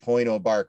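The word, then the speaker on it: Pointe aux Barques: you know i showed point oh bark lighthouse is how it's pronounced and it's a great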